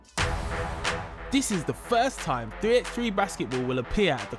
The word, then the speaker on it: 3x3: Welcome to 3x3 Basketball.